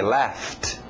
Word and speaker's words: laughed: Passado regular ED, mas som só de um T. Laughed.